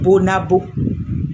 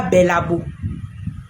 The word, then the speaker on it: Bonabo: E c'est Bonabo. C'est Bonabo. C'est pas Babo.